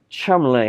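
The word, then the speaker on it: Cholmondeley: phone not but yeah it's still rubbish anyway Chumley has the first one I shout somebody shout out how to pronounce the last word it's bloody Fanshawe I've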